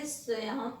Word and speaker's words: स्वयं: देखिए जैसे संसार में स के बाद उच्चारण अनुस्वार का हो रहा है, और स्वयं तो य के ऊपर जो है अनुस्वार लगा हुआ है, तो हम इसका उच्चारण कैसे करेंगे, स्वयं स्वयं।